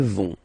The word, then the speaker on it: vont: Elles vont. Okay, remember, final T not pronounced, so you get this ON nasal here. On, vont.